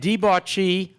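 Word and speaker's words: debauchee: of air am I and deuchi that's the only way you can pronounce that word to make the meter work and debach of do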